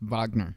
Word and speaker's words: Wagner: Wagner boss and yeah it's pronounced Wagner I actually know that